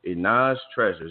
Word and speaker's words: Jenae's Treasures: So, Jenae's Treasures, and make sure I pronounced that.